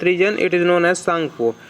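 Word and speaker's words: Tsangpo: तो अब ये नहीं कहिएगा इसमें टी लिखा हुआ है और टी का उच्चारण क्यों नहीं आ रहा है। देखिए चाइना का उच्चारण है, सांगपो इंडिया का उच्चारण नहीं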